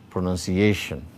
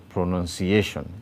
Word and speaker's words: pronunciation: Pronunciation. Pronunciation. You can see the secondary stress below none, and you can see the primary stress on A.